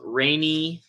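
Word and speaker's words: Raney: So the stack, I bought that off of Rainy. I think that's how you pronounce it. Rainy, R-A-N-E-Y, right? Rainy.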